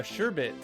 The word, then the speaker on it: sherbet: milk products sure geez did you just do it again i thought we'd been over this it's uh sherbet good grief birth means